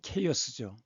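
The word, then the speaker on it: chaos: 이것은 창조 이전의 혼동 상태를 나타나는데 그리스에서는이 혼돈을 카오스 영어 발음으로 케이어스죠.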